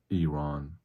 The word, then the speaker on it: Iran: And yes, that's how it's pronounced, Iran. E R O N that's the pronunciation like Enron the oil company.